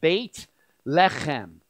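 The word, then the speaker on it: בית לחם: And in the Hebrew language, it's not one word, but two. It's pronounced Beit Lechem. The term Beit means the house of, and the term Lechem means bread.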